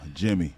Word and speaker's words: Gemhe: exact like that hey Jimmy real all right that's how you pronounce it yeah Jimmy with a G right so so how